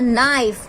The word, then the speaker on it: knife: This is a knife.